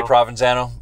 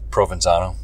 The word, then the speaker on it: Provenzano: that's right provenzano Prov I say provenzano uh it's really provenzano my wife always gives me heck about your own name yeah I pronounce it wrong why would you do